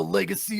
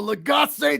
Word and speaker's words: Lagacé: I've got a bit of a legacy or a legacy, depending on your pronunciation.